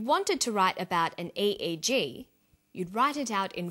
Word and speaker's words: EEG: We don't pronounce it EEG, we say EEG.